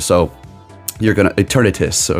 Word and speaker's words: Eternatus: Will be a special encounter screen for Eternus. So you're gonna Eternatus.